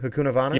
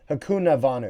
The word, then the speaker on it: Hakunavanu: Hakunavanu? Yeah, Luther Hakunavanu. Hakuna... Navanu. It's not Hakunin. I think it's Hakunavanu because there's only one N.